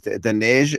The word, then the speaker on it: Daneige: i love the fact that they have the pronunciation of your name uh recorded on linkedin right so so let me try is the neigh again is that it very good yeah very